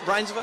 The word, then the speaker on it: Reinsve: It's Reinsve?